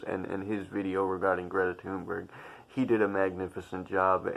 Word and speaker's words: Thunberg: It is pronounced Thunberg.